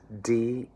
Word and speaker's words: die: Next phrase is die in dem Herren sterben. All right? So remember the IE rule of German is you pronounce the second letter when I's and E's come together. So DIE is D.